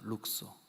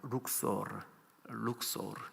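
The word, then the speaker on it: Luxor: 룩소. 오늘날 이집트 발음은 룩소르 이렇게 하거든요.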